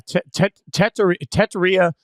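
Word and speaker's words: Tetairoa: You pronounce this Teteria? Is that it? Yeah, Teteria McMillan, which is why we all call him Tet, because it's a That's why we all call him Tet.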